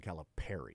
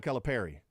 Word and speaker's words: Calipari: pair of final fours vacated so it's John calip Perry that's true though both of those things are true he's had a pair vacated and it's pronounced John calip Perry and it's also true that he's in town